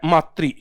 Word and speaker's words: मातृ: करने से आपको लगेगा ये है मातृ, ये है पितृ। ऋषि की मात्रा है, री का प्रयोग किया जाएगा इसमें।